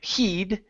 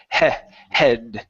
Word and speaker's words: head: second time so here you had said heed and here you said it correctly it is with a short e sound it's head try that one more